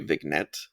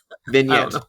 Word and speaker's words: vignette: a character driven story vnet V is that how you say it vnet vet no vignette vignette vignette so you know like